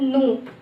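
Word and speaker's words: ぬ: It will be pronounced as nu.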